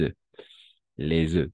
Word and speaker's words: œufs: un peu extraño, pero vamos a prononcer les œufs, comme le que, comme les que, la queue, les œufs. Solo vamos a escuchar prácticamente. O sea, las últimas tres letras no escuchamos.